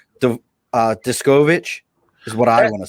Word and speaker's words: Deskovic: name because i want to say the uh discoverage is what i want to say that's pretty close uh the uh the uh pronunciation is desk of it deskovic all right cool see um i my great